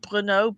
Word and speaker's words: Brno: into Czechoslovakia, some of them working out of Brno, BRNO. You can look that one up. Brno, I think it's pronounced.